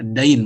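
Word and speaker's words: دين: Ini bukan din ya, dain bacanya.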